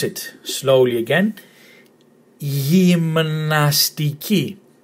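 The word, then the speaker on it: γυμναστική: And this one here, gymnastiki. Again, emphasis on the last syllable, gymnastiki. And it means gymnastics. So that's the word gymnastics, that's where it comes from the Greek word gymnastiki.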